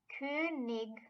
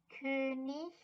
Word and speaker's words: König: Ig, which is pronounced ig, but more commonly also ish. So words ending with ing can have ig and ish pronunciation. So der König, der Honig is one